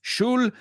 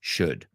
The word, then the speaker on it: should: Ojo con el should. No es shul, it's should.